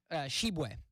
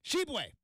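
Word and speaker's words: Tshiebwe: Shu uh I'm I I believe the t is silent um absolutely butchering this guy's name this poor guy is just like I I didn't ask for any of this it's uh sheway sheway boom got close sheway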